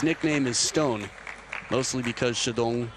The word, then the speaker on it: Shidong: His nickname is Stone, mostly because Shidong sounds like Chateau, which is a poor pronunciation of the Chinese word for stone.